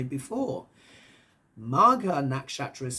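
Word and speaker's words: Magha: it means it's in the next chapter called maga which means to win a throne but maga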